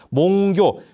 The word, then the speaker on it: 몽교: 몽교. 여러분 이걸 몽각이라고 하지 않아요. 꿈과 꿈 깼다 했을 때는 각자를 꿈 깰 교라고 읽습니다. 교. 몽교라 그럽니다.